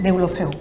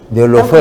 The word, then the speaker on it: Deulofeu: Yo quiero agradecerle a la ingeniera Carmen Deulofeu, ¿así se pronuncia? Deulofeu. Deulofeu. Tal como se escribe, sí.